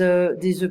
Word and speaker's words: œufs: it's a latte basically, des œufs bénédicts, I don't pronounce the F, une assiette, a plate.